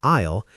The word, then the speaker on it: isle: Today we mastered the or choice structure, the silent s in isle, and the power of just for emphasis.